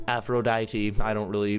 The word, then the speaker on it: Aphrodite: being very loving by being completely honest okay afro diet Aphrodite I don't really not done on the don't long absentia on the pronunciation ooh very good so now we got